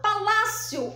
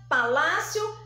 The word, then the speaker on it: palácio: sílaba mais forte então quando eu falo Palácio Olá é o som mais forte então aqui é a penúltima sílaba eu chamo de paroxítona então aqui eu tenho caderno esquina Palácio são palavras paroxítonas vamos